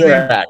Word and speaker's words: Dopirak: How do you pronounce it? Dopirak. You're good. You're good, man. Dopirak.